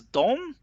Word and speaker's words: de: course, you might ask what's the difference between dom and dom that is spelled just with de. The difference is that even though it's both pronounced as dom, just d means they, and dom means them.